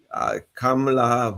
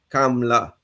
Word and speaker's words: Kamala: her name wrong, because Kamala versus Kamala, that's a big difference. And I wish, people in Trinidad and Tobago will also get her name correctly. Kamala, not Kamala.